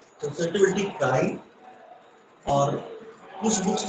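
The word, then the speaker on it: χ: Next is small, कुछ लोग इसको जाई भी प्रोनाउंसिएट करते हैं। ओके काई या जाई, द वैल्यू ऑफ काई इज स्मॉल एंड निगेटिव।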